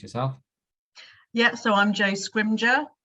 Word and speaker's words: Scrimgeour: Yeah, so I'm Jo Scrimgeour. No one can ever pronounce my surname, so Scrimgeour rhymes with ninja is normally the easiest way to remember how to pronounce it.